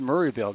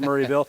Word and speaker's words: Maryville: Coach Hicks letting us know that it is pronounced Murrayville even though it's spelled Mville. So I don't have a cold. It is pronounced Murrayville.